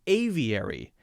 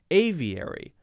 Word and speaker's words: aviary: such a short word how about aviary aviary mm-hmm same thing aviary we also have a six letter word with four syllables okay now how about